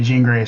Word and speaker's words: Jean Grae: by Jean Grae or John Grae, Sinister. I found a remix by a Ripper named Sinister, I believe. Jean is pronounced like blue jeans. Okay, Jean Grae.